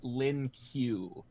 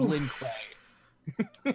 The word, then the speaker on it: Lin Kuei: The one most famous thing about Sub-Zero in The Journey Begins is that they keep pronouncing it Lin Q instead of Lin Kuei.